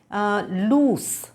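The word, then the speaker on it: loose: the pronunciation is different इसकी तो लूज है ना जड से ज की साउंड आती है उसकी जो प्रोनंसिएशन है वो क्या है लूस स की आवाज है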